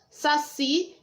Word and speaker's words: saci: Você pode chamar o saci também. Você vira e fala assim, saci! Qual que eu fiquei mais tempo falando? O si. Então, si é a sílaba tônica, é a sílaba mais forte.